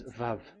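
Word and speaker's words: ו: We called it as Vav. Vav. Your claw, your mouth is like closed. Vav. So it's V as in Vogue.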